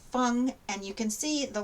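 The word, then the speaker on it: 蜂: and this one is wasp pronounced fung and you can see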